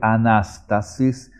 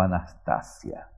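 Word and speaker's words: ἀνάστασις: En vez de decir anástasis, dijo anastasia.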